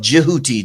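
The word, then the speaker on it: Djehuti: But the actual pronunciation of Jioti, the D and the J.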